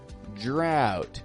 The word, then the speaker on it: drought: in my city at the moment a drought drought d r o u g HT drought what